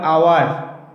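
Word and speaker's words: hour: এবার ব্যতিক্রম কিছু আছে, যেমন দেখো এইচ ও ইউ আর আওয়ার, এখানে ওয়ার্ডটা শুরু হয়েছে মূলত কনসোনেন্ট দিয়ে, কিন্তু এর উচ্চারণটা আসছে কিন্তু ভাওয়েলের মতো, যেমন আওয়ার ও, তাহলে আওয়ার ওটা হলো ভাওয়েল।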